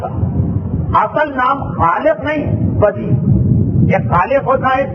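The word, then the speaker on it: بدیع: کہتے خلق کرنے والا۔ بے دال یہ اور عین، موسم میں خشکی بہت ہے اس لیے عین کا تلفظ آپ کو صحیح سمجھ میں نہیں آئے گا، میں نے خود بیان کر دی۔ بدی اور خالق دونوں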